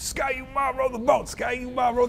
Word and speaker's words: Ski-U-Mah: It just rhymes with raw, so it can be part of a nice rhyming cheer, and Ski-U-Mah was born.